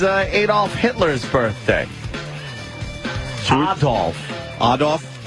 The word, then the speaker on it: Adolf: Hitler's birthday that's all odd off Adolph as a proper pronunciation and we should be